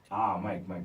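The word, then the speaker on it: Maik: It's M-A-I-K. Mike. Yeah. Okay. But it still sounds like Mike, right? Yes. But written differently.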